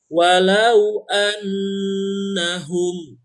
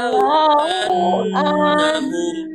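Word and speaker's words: وَلَوْ أَنَّهُمْ: Nah, jadi wa-nya pendek, lau-nya pendek, kita hanya menahan pada saat annahum. Humnya juga jangan panjang, jangan walau annahum.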